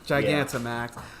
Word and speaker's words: Gigantamax: I always pronounce that wrong. Gigantamax.